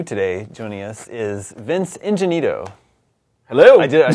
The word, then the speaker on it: Ingenito: Making his GameScoop debut today, joining us, is Vince Ingenito.